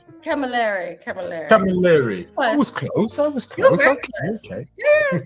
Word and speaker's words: Camilleri: How do I pronounce it? Camilleri. I was close. Okay. Yeah, better than calamari.